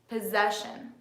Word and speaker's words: possession: how you can tell you can exaggerate the stress on different points of the word and see how it changes if I stress the first sound it would be possession so tell me is